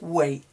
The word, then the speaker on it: weight: The GH is not pronounced, but this is pronounced height, whilst this is pronounced weight.